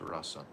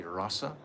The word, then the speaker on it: rasa: are fit to experience rasa? Goswami, by the way, sometimes it's called we say rasa, and sometimes we say ras. You can say either way. Either way pronounce it.